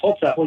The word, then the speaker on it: Holzapfel: His name is Holzapfel. How do you say that? That's Holzapfel.